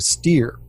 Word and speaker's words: Steer: Her name should be Patricia Steele, but it's actually Patricia Steer.